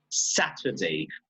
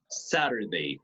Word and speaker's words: Saturday: go back one word if the T is between vowels again these happens in English right British English Saturday Saturday because they always pronounce the T okay Saturday however American English Saturday nothing sad illuminative in espanol